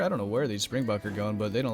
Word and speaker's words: Springbok: opposite drops featuring Springbok apparently I've been saying spring buck I just like kind of pronounced it that way I don't know somebody commented it was like it's Springbok and I was like okay